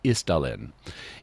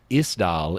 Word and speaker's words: Isdal: In any event, Isdal is the Isdale or the Isdel, and the Isdal Woman in Norwegian is thus the Ice Valley Woman.